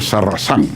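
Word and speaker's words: Sarrazin: Yo no sabía que Sarracín además es como el mío, un apellido francés, y se pronuncia Sarrazán.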